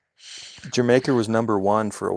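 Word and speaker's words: D'yer Mak'er: It's pronounced like the country. It's Jamaica. I don't speak I don't speak hillbilly. It's Jamaica because it's regular.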